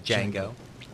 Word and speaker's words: Django: I had him say, the D is silent.